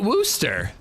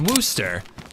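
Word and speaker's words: Worcester: Worooster. That's how you're supposed to say it. I'm pretty sure it's Worooster. It's spelled like Worchester, but it's Woo.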